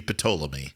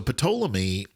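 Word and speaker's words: Ptolemy: but it I mean technically in Greek it is pomy and pic um so now I'm going to get all the letters of Correction but but you pronounce every every consonant so pamy is the general of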